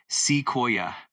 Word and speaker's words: sequoia: Of course, it's pronounced as sequoia. Just break it down into three parts: sea, koi, and That's a great question.